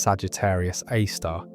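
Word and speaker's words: Sagittarius A*: This black hole called Sagittarius A, pronounced Sagittarius A star, sits precisely at the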